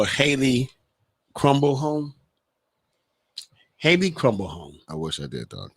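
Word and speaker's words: Crombleholme: haley crumble home hey crumble home i wish i did doc are you sure that's how it's pronounced that's how it's pronounced crumble home yeah i'll spell it for you just make sure c-r-o-m-b-l-e-h-o-l-m-e okay handy crumble home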